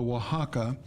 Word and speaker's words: Oaxaca: So this one is what they call a Oaxaca. It's spelled O-A-X-A-C-A.